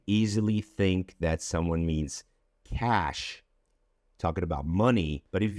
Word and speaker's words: cache: But the correct pronunciation, as I just said, would be cash.